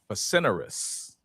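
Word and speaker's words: facinorous: And the first word is facinerous. Facinerous. And it's an adjective and it's spelled f a c i n o r o u s.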